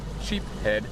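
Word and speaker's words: sheepshead: Sheep head is the right way to say it.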